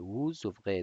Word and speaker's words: vous ouvrez: او بخیر vous ouvrez دا اس پکې تلفظ کېږي.